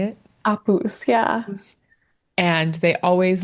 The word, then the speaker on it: Apus: Apus, yeah.